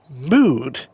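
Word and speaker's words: Mude: go folks I just took a swig of mood that's uh that's spelled m-u-d-e work deep ocean mineral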